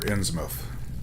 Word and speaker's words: Innsmouth: h.p lovecraft's shadow over ends mouth or innsmouth as i've heard it more commonly pronounced chapter four if you